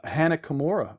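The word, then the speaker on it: Hana Kimura: losing end but uh Hannah Kimura right that's how you pronounce her name a couple years ago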